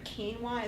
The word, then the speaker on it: quinoa: It's pronounced K-E-E-W-A-H.